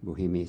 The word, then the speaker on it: Bohemier: name bohemian g-e-r-a-l-d Bohemia spelled b-o-h-e-m-i-e-r in French it's a boy but we'll go along with the Bohemia or Bohemia okay well I I